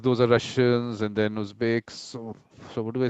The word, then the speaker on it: Uzbeks: And after them goes Uzbeks. Am I right? Uzbeks pronouncing it? Mm-hmm. Yes.